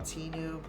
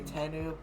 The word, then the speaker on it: Tenu: tenu t i know a lot of people call it teenu but i mean i don't really care you pronounce it if you want to say that's fine i actually i say tenu that's just how i've always said it but yeah tenu tinu